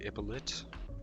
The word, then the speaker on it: Ippolit: like Raskolnikov, the Underground Man, and people like Ippolit.